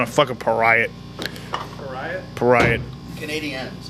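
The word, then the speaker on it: Canadiens: montreal they're doing that why are you saying it like that the canadians canadians canadians that's how it's pronounced it's basically it's c-a-n-a-d-i-e-n-s canadians canadian canadians canadians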